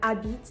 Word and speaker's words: habite: Here the ash at the beginning of habite is an ash muet because it's contracted with the word je, but regardless, it's not going to be pronounced. The e at the end of habite again is going to be silent because it's at the end of the word following a consonant.